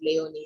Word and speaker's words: Laoni: It's pronounced Laoni, but I know Americans call it Leone. So whichever works.